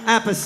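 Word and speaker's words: Appice: and blue murder that's carmine apace the correct way to say it and we brought back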